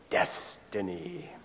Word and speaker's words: destiny: Accent on the first syllable, destiny.